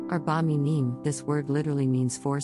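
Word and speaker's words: ארבע מינים: We will also look at the definition of Arba Minim, which is a Hebrew plural noun pronounced Arba Minim.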